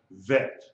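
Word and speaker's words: ב: Without the degesh, it is pronounced vet, a V sound, V as in Victor.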